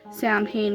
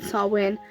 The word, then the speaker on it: Samhain: A lot of people got offended because I was pronouncing it Samhain rather than Samhain, but that definitely was not my intent at all.